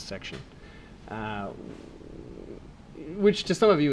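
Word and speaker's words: §: By the way, someone asked, that symbol, S with a circle through it, means section. It's pronounced out loud as section.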